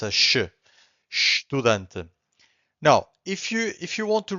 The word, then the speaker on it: estudante: This is estudante. Again, estudante. So the only thing that you can hear from the first syllable, it's a sh, right?